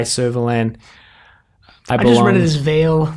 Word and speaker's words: vale: and I belong as Vale like Val valet Nathan will be pleased to hear that I got that pronunciation correct but Nathan from flight